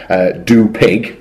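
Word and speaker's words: Dü Pig: very talented musician, and his band, Do Pig, which is spelled D-U with an umlaut and then pig as in P-I-G, are actually very, very good.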